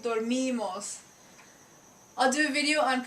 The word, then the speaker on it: dormimos: This I in Spanish is obviously the E sound, like dinero, money, right? Dormimos.